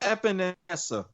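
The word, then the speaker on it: Epenesa: I'm actually okay with it here because our second round pick, AJ, and I'm going to butcher the last name here, but I'm going to try it. Epinesa? Yep, Epinesa.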